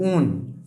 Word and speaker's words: one: इसका सफिक्स होगा ONE, ऊन, इसको वन नहीं पढ़ते हैं हम लोग, ये केमिस्ट्री का टेक्निकल वर्ड है तो इसको हम लोग ऊन पढ़ते हैं, प्रोनाउंसिएशन ऊन होगा।